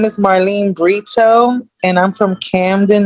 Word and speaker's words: Marlyn: well hello good morning um my name is Marlene Brito and I'm from Camden New Jersey marlin so my pronunciation should be Marlene yes it's okay everybody the way they want